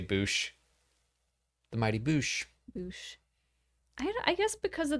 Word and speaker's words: Boushh: Do you say Bosch or Boushh? I always said Bosch. I believe correct pronunciation is Boushh.